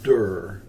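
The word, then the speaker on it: דור: Now that's another word that is actually dur in Hebrew, and it's spelled Daleth Ua Resh.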